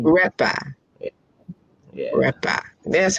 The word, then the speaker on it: Retba: Retba.